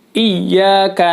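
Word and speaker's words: إياك: Yang pertama adalah tidak menekan bunyi huruf ya bertasydid pada dua lafaz iyyaka. Yang biasa dibaca adalah dipanjangin kadang-kadang. Iyyaka na'budu wa iya.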